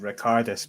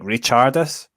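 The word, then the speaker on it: Ričardas: also got told off for saying uh baris's name wrong because because his first name I was saying ricardus but apparently it's re it's like richardis like you say it like a CH so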